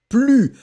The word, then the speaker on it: plus: Ne in the first place, then you put your verb, and after that you will finish with plus. Remember, you don't pronounce the S at the end of plus.